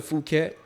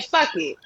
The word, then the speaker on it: Phuket: I done been to Phuket. Thailand too, down on the south end. That's beautiful. But that was Dang, more, that's how you pronounce it? Whole time I'm saying fuck it.